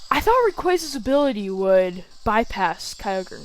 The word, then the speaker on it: Rayquaza: my rayquaza or rayquaza i used to say raquaza but they said rayquaza the anime so now i'm saying that i'm sorry if